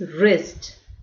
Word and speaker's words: wrist: So WR is wrist. Wrong. WRONG is wrong. REST, rest. Rend, right, wrap. So did you notice WR is pronounced as R sound, okay?